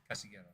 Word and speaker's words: Casillero: I think the two L's become wide, I think. Yeah. So yes. Casillero.